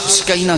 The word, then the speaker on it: سکینہ: اور حسین پیار سے سکینہ کہتے تھے۔ ہم اردو میں یا پنجابی میں سکینہ بولتے ہیں، لیکن عربی میں صحیح تلفظ سکینہ ہے، سکینہ یعنی سکون اور